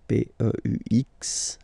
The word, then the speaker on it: peux: P-E-U-X, okay, don't pronounce the final X.